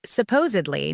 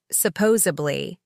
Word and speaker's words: supposedly: "Mom, it's supposedly, not supposably," she would correct me